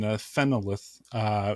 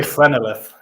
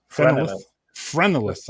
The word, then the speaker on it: Phrenelith: Phenolith, is that a Dutch pronunciation? As for the pronunciation, it's a made-up word, so you can pronounce it any way you want. I would say Phrenelith. Phrenelith.